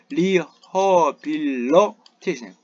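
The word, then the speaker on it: rehabilitation: 리허빌러테이션. 요 I 발음이 어로 발음돼야 돼, 어로. 이게 이 발음되면 액센트가 내려가는데 그럽니다.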